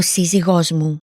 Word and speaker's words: σύζυγός μου: Note, there are two stress marks on the word meaning husband. This happens when a word is accented on the third to last syllable and is followed by a weak pronoun or possessive adjective, such as Μου.